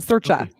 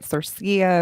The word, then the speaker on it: Sercia: search here right close you're the closest at searcha searcha okay yeah thank you thanks for being close thanks for being close all right i'm going to spell it phonetically so i don't mess it up all right cool all right at least i'm the closest so yeah no exactly like you usually get cerseia or or you know it's italian